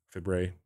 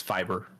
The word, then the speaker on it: fibre: Fibre. It's fiber. Fiber. Oh my God. It's a European spelling of fiber.